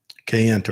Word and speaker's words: Kayenta: went to the Code Talkers Museum down in Kayenta, Yeah.